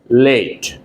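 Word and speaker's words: layette: I'm going to uh New Market to buy late to buy late let me write the spelling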